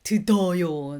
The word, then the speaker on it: 들어요: If there's a D bottom consonant, that D does change into L sound. So, 듣다. Because it's a bit harsh to speak, right? To pronounce. So 듣다 infinitive form is totally fine, but when you say 들어요, it's a bit odd. So that's why 들어, it changed to L sound.